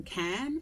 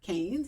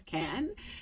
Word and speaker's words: Cannes: Proud to announce that we are live from K. People often mispronounce it as canes. It's K.